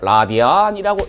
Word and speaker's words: 라디안: 그리고는요, 요거의 단위를 RAD로 표시하는데 요것을 라디안이라고 읽어주시면 되겠습니다.